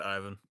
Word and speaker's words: Ivan: And since our Miss Stella wants to go last, we will go to Ivan or Yvonne. How do you pronounce it? I was just Ivan.